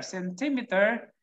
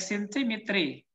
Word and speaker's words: centimeter: Okay, example here, centimeter. And this one, you cannot read this like centimetry, okay? Even though the spellings are not the same, but they have the same pronunciation. Centimeter, centimeter.